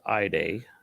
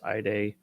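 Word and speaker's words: Idie: microwave or something uh let's see pronounced iday so we were close eye day her power's physical characteristics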